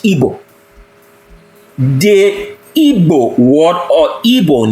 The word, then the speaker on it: Igbo: It's just like the Igbo people, which is properly pronounced in English, Igbo.